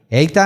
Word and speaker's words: Eitan: Eitan. Tal cual como se escribe en hebreo, Eitan.